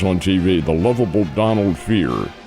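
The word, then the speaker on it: Fehr: TV the lovable Donald Fear. F E HR that he pronounced it fear.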